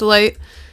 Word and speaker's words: lighght: So, yes, it's still pronounced light cuz um the g h are silent.